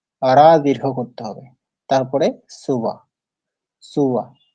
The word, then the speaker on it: সুব: সুবা তো পারা সুবা এখানে ধ্যান রাখতে হবে সুকে দীর্ঘ করা যাবে না যে সো আছে সৃদস্য কে দীর্ঘ উ এর সাথে করা যাবে না হ্রাস উকার আছে এইজন্য হ্রাস উকারে উচ্চারণ করতে হয় সুয়া সুয়া বলা যাবে না তো এই ছোট ছোট